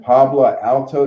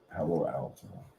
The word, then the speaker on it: Palo Alto: That Pablo Alto, there's a security company called Pablo Alto something. I'm saying it wrong. Hello. Palo. Palo Alto.